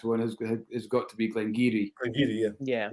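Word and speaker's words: Glen Garioch: I thought you were going to say because probably the in our region, the biggest mispronounced one has got to be Glengarry.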